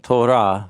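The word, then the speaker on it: תורה: Torah rhymes with the word light, which is or.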